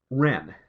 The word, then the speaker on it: Whren: not gonna I get rent like the little bird except the rent is spelled wre and this guy's name was Ren wh re n this is a DC